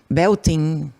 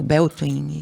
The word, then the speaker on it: Beltane: Porque a gente não pode dizer que são todos, se comemora o que a gente chama de Beltane ou Beltane, e tem várias pronúncias.